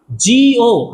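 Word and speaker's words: Tjio: याद रखना जिओ महोदय है ना जी ओ है ना इसकी स्पेलिंग होती है टी से शुरू होती है कोई जापानी था इसलिए टी जीओ नहीं बोल के जिओ बोलते हैं इसने बताया कि प्रत्येक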